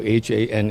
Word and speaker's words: Hanh: my first my first name is Haan H and even though this one singable you know one syllable pronunciation a lot of my friends and